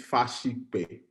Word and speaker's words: Fasipe: I've said it wrong already, haven't I? You tell me what it is. It's Fasipe. Fasipe.